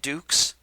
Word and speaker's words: Dux: dynamite ducks possibly dynamite dukes i think it's up to you as to how to pronounce it but that was uh dynamite and i'm going to pronounce it ducks because the protagonists are ducks dynamite ducks by sega